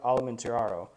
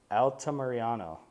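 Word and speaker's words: Altamirano: unanimous decision to Victor altamariano there we go I said it right now Alta Mariano um it was kind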